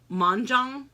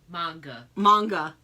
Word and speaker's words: manga: And then you got, how do you pronounce it? Manjang? Manga.